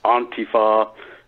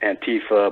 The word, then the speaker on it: Antifa: And he says it's pronounced Antifa. I mean, I've been mispronouncing it Antifa, but whatever.